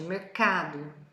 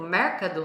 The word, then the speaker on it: mercado: Olha onde está a sílaba forte, mercado. E se a gente fala, por exemplo, mercado, a gente está pronunciando as mesmas sílabas, mas com a entonação na sílaba errada.